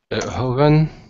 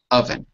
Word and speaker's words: oven: part of the stove HOV oven oven o v n oven okay no h at the beginning no h that's right in fact let me